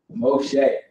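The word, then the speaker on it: משה: of our name came mo che that's how you say his name in Hebrew that's Moses right over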